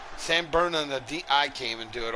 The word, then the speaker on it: San Bernardino: Is that how you pronounce it? Bernardino? I thought it was San Bernardo. San Bernardino.